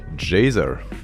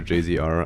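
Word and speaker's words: Jhzer: to your mind is obviously jaisar spelled with a j-h-z-e-r or jcr i don't really mind he has been the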